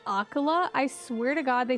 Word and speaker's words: Akkala: I still can't get over that pronunciation. I'm always going to say Akkala, but Akala.